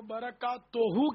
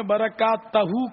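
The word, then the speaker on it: بركاته: تو برکات توہو کے بجائے آپ نے برکات تہو کہا، تو یہ اس کی بھی تصحیح فرما لیں. برکات توہو صحیح تلفظ ہے.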